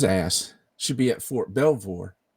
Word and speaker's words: Belvoir: Did I pronounce that right? Belvoir? Fort Belvoir, yep.